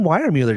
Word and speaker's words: Weiermuller: John Weiermuller, did I say that right? You did. Unlike Jason Horn, you know how to pronounce it.